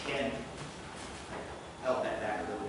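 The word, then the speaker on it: חֵן: It's a Hebrew word, means that's pronounced ken.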